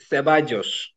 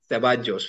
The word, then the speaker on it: Ceballos: İspanya'da Dani Ceballos. Ceballos veya Ceballos. Y diye de okuyabilirsiniz.